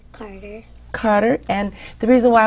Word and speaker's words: Karter: want to tell her what's your first name Carter Carter and the reason why I wanted you